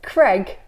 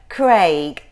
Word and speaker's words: Craig: I thought it was spelled C-R-E-G for ages, and then I saw it written down. It was Craig. Yeah, it was Craig. It was Craig all along, not Craig.